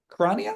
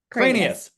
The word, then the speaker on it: Kranias: Is it Kranias? Cranias. Cranias. Kranias. Yeah, you got it.